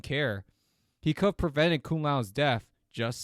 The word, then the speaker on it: Kung Lao: He could have prevented Kung Lao's death, just saying.